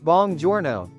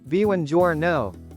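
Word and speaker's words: buongiorno: He grinned and repeated bongjouro. I tried to correct him. Actually, it's bananjouro. He frowned.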